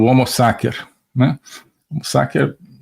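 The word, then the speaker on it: homo sacer: agamben que é o homo saker né homos saker uso aqui a pronúncia restaurada do latim né a pronúncia eh eclesiástica seria homo Sater né mas o homos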